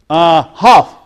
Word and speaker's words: half: Half. Because I don't pronounce the la.